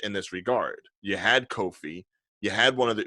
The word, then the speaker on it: Kofi: little bit older now and so is uh Coffee Kingston actually you would just say he's just coffee now right kofi non coffee coffee coffee Kofi Kofi Casas wasn't racist and hold up coffee I'm